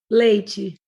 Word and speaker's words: leite: Leite. Yeah. So it's different. Chi. So the Brazilian does the chi sound for a T.